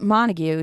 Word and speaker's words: Montague: Groot versus Shane uh Montague I can never get Shane's name he's Shane always has the mustache the bleached hair it's Montague just like the uh like um Shakespeare like you know oh